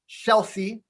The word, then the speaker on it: Scelsi: And his name is Paul Scelsi. He actually taught me how to pronounce his last name.